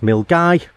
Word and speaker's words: Milngavie: This is pronounced Milngavie, and hopefully today we'll get somewhere along Loch Lomond as far as we can.